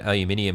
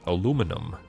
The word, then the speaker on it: aluminium: Um, so the real way to to say the real way that aluminium is spelled is it it's inium, not inum. It's it's aluminium, not aluminum.